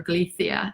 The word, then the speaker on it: Galicia: walking temperatures for um galicia spain or galicia is how they say it but g-a-l-i-c-i-a spain just